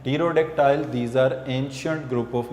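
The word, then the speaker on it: Pterodactyl: टीरोडेक्टाइल्स, P silent होगा इसमें, टीरोडेक्टाइल, ये these are ancient flying mammals.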